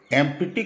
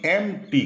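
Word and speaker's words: empty: অন এন এমটি stomach এমটি কইবোনি এমটি কইবো পি টা silent রইবো 17 নম্বর বাক্য মোপাইটিকে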